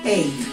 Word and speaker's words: ate: En presente y en pasado ate. Lo vamos a pronunciar como cuando pronunciamos el número parecido, como pronunciamos el número 8, ate, ¿ok?